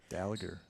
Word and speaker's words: Dallinger: Dallinger. Dallinger is hard G.